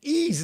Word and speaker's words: Ys: I looked this up because you think, well, how do you say that? Ease? It's ease. It's ease. Ease.